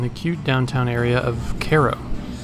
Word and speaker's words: Cairo: Our trip started by grabbing lunch in the cute downtown area of Cairo. It's actually spelled like Cairo, the Egyptian city, but pronounced differently.